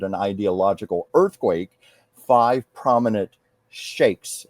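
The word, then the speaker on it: sheikhs: Five prominent shakes. Is that the correct pronunciation? Shakes. Shiks. Shiks. Okay. Uh, five prominent shiks declare they want to recognize Israel and break away from the Palestinian Authority.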